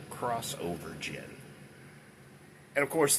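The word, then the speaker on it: Xovergen: And how do you spell that? X O V E R Gen. Crossover Gen.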